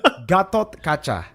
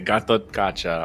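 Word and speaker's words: Gatot Kaca: So what's the correct way to say it? I feel like I've said it wrong the whole time I've played MLBB. Honestly, I just say Gato. Gatakocha. Gatot Kacha. Ah, okay, Gatot Kacha.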